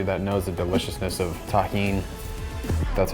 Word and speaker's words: Tajín: Shout out to everybody that knows the deliciousness of Tajín. That's how you pronounce this.